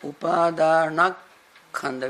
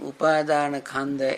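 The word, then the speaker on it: Upādānakkhandha: Now, Upadana plus Khanda make Upadanak Khanda. We add one more K. Otherwise, saying Upadana Khanda is something we hear odd.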